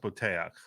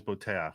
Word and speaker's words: Boteach: inter he actually is pretty famous it's actually pronounced Bak like his original name is Bak which means trust um it's a very Israeli